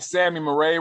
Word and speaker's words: Zami Mare: are saying I I am hitting it right Sammy Murray right yes sir I'm not just put in